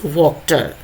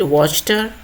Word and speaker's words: Wachter: Third कैरेक्टर इज वॉक्टर। Some people pronounce it वॉचटर, some people says वॉक्टर, so whatever may be